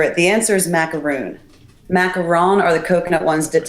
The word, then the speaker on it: macaron: um and they always confuse the name hence pronunciation important of macron or macaroon and I think what we're looking for is the macaron so that's what we're